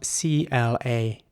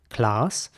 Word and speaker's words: class: Now, in British English, you may guess at this stage that the word is indeed pronounced class, not by everyone, but by some, class. And in American English, it would be more like class.